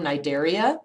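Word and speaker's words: Cnidaria: in this group phm nideria and phm tinora notice the c is silent in both of those okay philm nidaria naido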